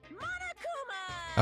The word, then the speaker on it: Monokuma: I am Monokuma.